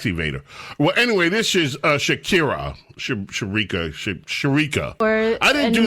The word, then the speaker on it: Shakira: uh h singer Sharik Sharika. Is is that how we pronounce her name? Right. I've got that right. Right. It's Shakira. Shakira. Not shar or screechica.